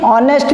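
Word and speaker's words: honest: तो गोटे वर्ड हूँ आवर एवं ए आवर जो शब्दटी एच रु आरंभ हो किंतु तार एच साइलेंट रहुची सेमती ऑनेस्ट मैन ऑनरेबल पर्सन ए समस्त वर्ड गुड़िक एच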